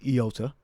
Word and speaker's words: iota: But it may have been actually pronounced with a yota. All right, or a yod. All right, but in the Greek, as we have here, it's pronounced iota.